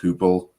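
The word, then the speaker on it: Heupel: Is it Josh Hoople?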